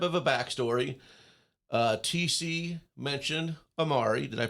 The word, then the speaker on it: AMARE: TC mentioned AMARE. Did I pronounce that right?